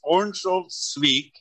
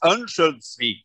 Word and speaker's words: Örnsköldsvik: I can pronounce it for you. In English, it's Örnsköldsvik, and yeah. In Swedish, it's Örnsköldsvik.